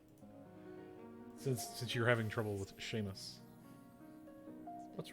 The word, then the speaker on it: Seamus: I mean you have trouble with the word Seamus what damn it no you keep you guys could go on like Sheamus it's cuz it's spelled seasons yep Sean s EAN it's all